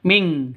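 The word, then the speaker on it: مِن كُلِّ: Non mati bertemu dengan kaf. Cara bacanya samar didengungkan. Siap-siap ke huruf kafnya. Non matinya ditambah dengan ng bacanya ming seperti itu ya.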